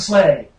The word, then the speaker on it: sleigh: She's got the sleigh. What? Sleigh rhymes with gay.